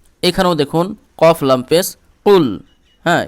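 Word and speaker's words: قُلْ: দেখুন কফ লাম পেশ কুল হ্যাঁ এই কফটা জিহব্বার গোড়া উপরের তালু বরাবর লাগিয়ে উচ্চারণ করতে হয় কুল ঠিক আছে কফ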